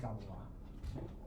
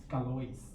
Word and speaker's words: Galois: mathematician and called Évariste Galois. It's not pronounced Galois. It's pronounced Galois because it's French.